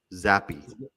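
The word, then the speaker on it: Zappe: give how do you say the guy's name zappy zappy okay how how do you say it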